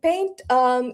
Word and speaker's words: Paynt: It is Paynt, URocked powered by Paynt.